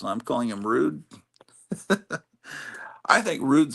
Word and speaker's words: Rudd: I thought rude was pronounced like dud. His name Paul Rudd. Oh, I guess it is. I'm calling him rude.